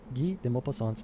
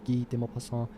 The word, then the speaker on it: Guy de Maupassant: I love his name, Guy de Maupassant. Guy de Maupassant. I don't speak French very well. Guy de Maupassant. And it's spelled like Guy, but it's Guy.